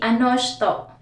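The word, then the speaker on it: あの人: Sa lower lesson, ano hito yung spelling. Pero kapag ginagamit na natin siya sa higher lesson, natututunan na natin yung pronunciation ng Japanese. So, ang pronunciation nila para sa ano ito, usually ano shito.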